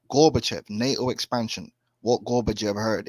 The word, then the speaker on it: Gorbachev: Is that how you Gorbachev. pronounce it? Right, Gorbachev, NATO expansion.